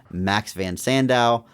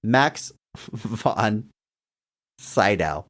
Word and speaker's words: Max von Sydow: alum of the show, Mark Strong Award winner Max Van Sandow. Max von Sydow. Jesus, man. You've Max massacred that. Von Segal. Did I say it right? What did I say it wrong? Oh, Jesus. Max Von Shadow.